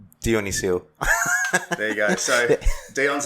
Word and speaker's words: Dionyssiou: Do you want me to spell it or say it? Say it. Say it'd be great. All right. Dionyssiou.